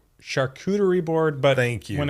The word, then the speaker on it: charcuterie: Charcuterie Charcuterie.